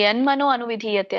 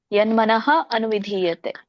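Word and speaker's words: यन्मनः: ವಾಯು್ನಾವಂ ಇವಾಂಭಸಿ ಹರೇ ಮತ್ತೆ ಅಲ್ಲಿ ಯನ್ಮನೋ ಅನುವಿಧಿಯತೆ ಅನ್ನೋಂಗಿಲ್ಲ ಯನ್ಮನಹ ಅನುವಿಧೀಯತೆ ಓಕೆ ಯನ್ಮನಹ ಅನುವಿಧೀಯತೆ ಯನ್ಮನಹ ಮತ್ತೆ ನಹ ಅದು ಇದು ಬರೋದಿಲ್ಲ ಹ ಉಚ್ಚಾರಣೆ ದೀರ್ಘವಾಗಿ ಬರೋದಿಲ್ಲ ಯನ್ಮನ ಅನುವಿಧಿಯತೆ ಸೋ ನೀವು ಯನ್ಮನೋ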